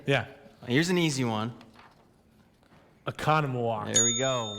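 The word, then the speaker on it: Oconomowoc: You're going to give me what we hope is the correct pronunciation. Gotcha. Are you ready? Yeah. Here's an easy one. Economawalk.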